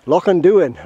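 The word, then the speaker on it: Loch an Duin: Lochinduin, right.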